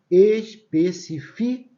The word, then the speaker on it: especifico: Especifico e não específico, tá? Específico é essa daqui, ó. Específico, tá vendo? Todas essas palavras existem. A simples transformação da sílaba tônica muda o sentido da palavra.